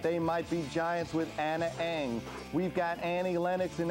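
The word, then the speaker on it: Ana Ng: The song is called Anna Eng, but it's spelled A-N and an N-G.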